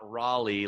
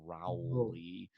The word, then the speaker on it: Rowley: And for Like a those listening, it's not Raleigh, like Raleigh, North Carolina. It's oh, Rowley.